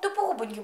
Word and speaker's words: тупогубенький: Бубик тупогуб, тупогубенький бичок. У бика була тупа губа. У слові тупогубенький наголос на у.